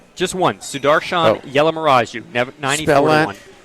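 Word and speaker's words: Yellamaraju: Just spelled like it sounds. It is. It actually is.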